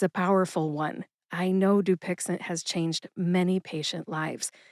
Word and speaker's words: Dupixent: You put all three syllables together and you get dupixent. I'll say it kind of slow here. Doixent. Dupixent. Emphasize that first syllable.